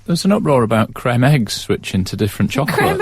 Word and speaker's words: Creme eggs: There was an uproar about creme eggs switching to different chocolate. Creme eggs. Cadbury's creme eggs. Correct. That's the correct pronunciation.